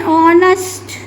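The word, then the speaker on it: honest: एन ऑनेस्ट एन ऑनेस्ट देखो बेटा एच क्या है? एच क्या है आपका? कसोनेंट है। लेकिन हॉनेस्ट में एच साइलेंट हो जाता है। ओ का साउंड आता है।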